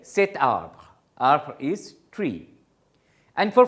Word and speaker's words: cet arbre: So, you are adding a T to make it more pronounceable, cet arbre.